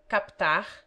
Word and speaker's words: captar: Except that the P is pronounced in captar, raptar, optar, repto, and mentecapto.